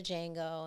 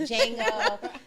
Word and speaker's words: Django: I always called it the Django, and my ex would be like, girl, the D is silent. Django.